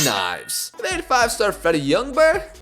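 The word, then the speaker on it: Ljungberg: They had 5-star Freddie Youngberg, apparently you don't pronounce the G, and English great Lee Boyer.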